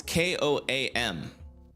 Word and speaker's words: KOAM: No, it's not Como. It's It's k o a m. Koam. Not Como, Koam. I think I've been saying it wrong.